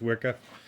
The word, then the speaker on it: WIKA: of these gauges here are Wicca or w-i-k-a I'm assuming it's supposed to be pronounced Wicca uh I was reading